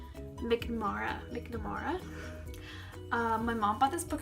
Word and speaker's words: McNamara: with Love Actually by Allie how do you pronounce the name? McNamara.